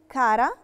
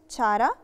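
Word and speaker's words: cara: la lettera C لو جه وراها vocale A، الحرف متحرك A، بننطقها ك ك، ودي بنسميها تشي دورا. دورا يعني ناشفة أو قوية. ومثال على كا كلمة كارا. كارا هننطقها كارا مش تشارا، ويعني معناها عزيزتي.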